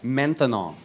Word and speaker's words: maintenant: That's right, maintenant. Maintenant. 3 syllables, that's a long word for now. By the time you get finished saying maintenant, it's no longer maintenant.